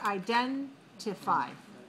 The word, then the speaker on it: identify: Identify. 4 syllables. Identify. The second syllable has a stress mark. So we say this word is for 2.